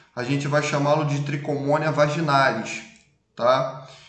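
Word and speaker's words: Trichomonas: gente vai chamá-lo de tricomoníase vaginalis tá embora se inscreva com ch mas a gente pronuncia como se fosse escrevo só com cê tricomoníase é né trichomona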